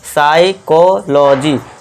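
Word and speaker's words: psychology: एस के बाद देखिए दोस्तों यदि पी के बाद एस हो। पी के बाद क्या है दोस्तों? एस आ गया। तो इसे क्या पढ़ेंगे हम? देखिए पी यहां साइलेंट हो जाएगा तो यहां हम एस से शुरू करेंगे। ठीक है दोस्तों? पी को भूल जाइए। अब एस से शुरू करो। तो इसे क्या पढ़ेंगे? साइकोलॉजी। साइकोलॉजी लॉजी नहीं लॉजी साइकोलॉजी इस तरह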